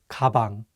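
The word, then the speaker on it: 가방: kabang which means back usually the consonant kyok sounds like an english g however if it's at the beginning of the word it takes on the english k sound kabang let's do another example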